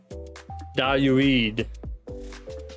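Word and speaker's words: Δαυίδ: That's a delta, an alpha, an upsilon, an iota, and another delta. And so that is Dayuid, which we know as David.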